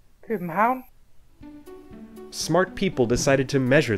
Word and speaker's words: København: And now here's a Dane. Copenhagen.